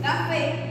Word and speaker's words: café: Por ejemplo, café está en la última sílaba, siendo esta una palabra aguda, ya que su acento o su mayor golpe de voz está en la última sílaba.